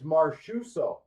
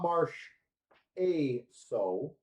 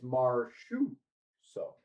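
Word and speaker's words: Marchessault: It's Marchuso. That is the 100% correct pronunciation. It is not Marsh A so. It's Marshu so.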